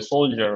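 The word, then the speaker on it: soldier: কি সোলডিয়ার বলি এটা কিন্তু আমরা ঠিকই বলি সোলজার বলি সোলজার জ এরকম জ এখানেও হবে স্কেজুল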